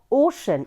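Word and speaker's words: ocean: waves in द ओशन इसको ओशन पढ़ते ओ ओखली वाला ओ तालवी श न ओशन क्या पढ़ते हैं ओशन ओन ओशियन और भी कुछ वर्ड बोलिएगा ठीक है कुछ और प्रोनाउंस मत करिएगा उसको बोलते हैं ओशन called tsunami T silent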